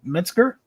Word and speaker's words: Metzger: Is it Metzger? Is that how you pronounce it?